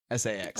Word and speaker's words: Sachs: Sachs spelled like saxophone. Sax.